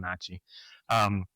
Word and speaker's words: Natchez: Typically the settlement is called Natchez because of the anglicization, and the people are called Nachi.